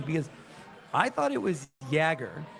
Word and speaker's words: Yager: to the broadcast and he was saying Yager. And I got to think that the team play-by-play voice is going to know how to pronounce the guy's name. Right. So I think it's Yager. Yager.